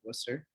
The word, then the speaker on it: Worcester: That's how you say it, Worcester.